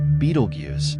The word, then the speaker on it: Betelgeuse: Nestled in the shoulder of the Orion constellation, Betelgeuse, pronounced Betelgeuse, has been a familiar sight for millennia.